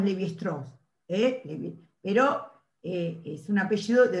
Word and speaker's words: Lévi-Strauss: lévi-strauss ahí lo tienen así como era francés le decimos leve strong pero es un apellido